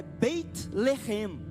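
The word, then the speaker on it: בית לחם: Belém, a pronúncia hebraica é Beit Lehem.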